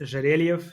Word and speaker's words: Zherelyev: My last name is Jarel. It's very difficult. Russian last name has been butchered my whole life, but I'm known as on Instagram.